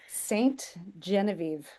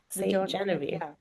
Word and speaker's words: Ste. Genevieve: Ste. Genevieve. Ste. Genevieve. French speakers would say it a bit differently, but that's how we say it.